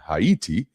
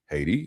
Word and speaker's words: Haiti: by these two generals in Hayiti Haiti as we pronounce it over here.